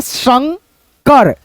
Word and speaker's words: शंकर: मात्रा बोला जाता है इसका उच्चारण दोस्तों आधा न के रूप में होता है जैसे शं कर शंकर शंकर ऐसे करके है ना तो यहां